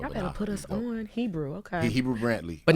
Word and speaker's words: Hebru: Y'all better put us on Hebru, okay? Hebru Brantley, But not spelled like Hebrew.